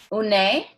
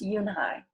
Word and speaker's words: Unhei: "Une?" the girl asked, scrunching up her face. Une? Some kids chanted. No, Yoonhai corrected. It's spelled Unhei. It's pronounced Yoonhai.